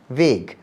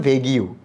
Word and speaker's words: vague: ওখানে তখন আমার কাছে একটা নতুন শব্দ চোখে পড়ে, সেটা হচ্ছে VAGUE, ভেগ। এখন তো খুব স্মার্টলি ইংরেজিতে বলি ভেগ কথাটা, তখন তো আমি জানতাম না, ক্লাস 5-এ পড়ি, ভেগ আবার কী জিনিস। আমি উচ্চারণ করেছিলাম ভেগিউ।